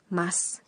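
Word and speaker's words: ます: atau saya bisa dihilangkan huruf vokal u-disk u dalam tulisan Mask diucapkan dengan senyap Jadi terdengar Mask Sekarang kita coba pengucapannya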